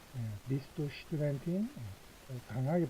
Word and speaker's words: Studentin: Bist du Studentin? Bist du Studentin? 강하게 발음해야 됩니다. 스투 하면 안 되죠? 슈투입니다. 슈투.